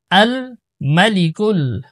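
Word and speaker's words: الملك: তো চলুন, আল মালিকুল, আল মাতে আমরা টান দিব না।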